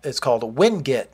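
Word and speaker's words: winget: This method that I'm using is called WinGit, not to be confused with Git. I know this is spelled W-I-N-G-E-T.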